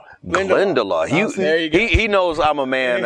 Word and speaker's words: Glendalough: Pronounce the word. What is that? How do you say it? Glendalough. Oh. Glendalough.